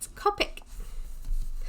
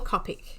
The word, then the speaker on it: Copic: a bunch of kopecks its Copic while they are called Copic or copy pronounced both ways depending on where you're from so I'm gonna have to